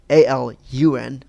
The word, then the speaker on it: Alun: It's not pronounced in the U.S. or not spelled Alan. It's Alun. I saw this on Twitter too.